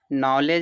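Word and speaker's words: knowledge: नॉलेज है देखो डी के बाद देखो जी है तो इसको नॉलेज पढ़ेंगे डी का उच्चारण नहीं होगा नॉलेज माने ज्ञान होता है गैजेट डी के बाद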